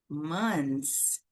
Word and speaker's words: months: É como na palavra months. Meses, né? A gente não fala esse the. Months. Então, você sai do som do n e passa para o som do s.